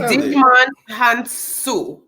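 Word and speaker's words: Djimon Hounsou: It's Digimon Hansu. Digimon Hansu. HANSU? IJMON. And the last name is spelled HOUNSOU.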